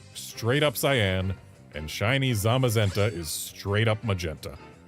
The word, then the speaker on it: Zamazenta: So they're the cyan, zashian, zashian, and the magenta. Z magenta. Zamazenta.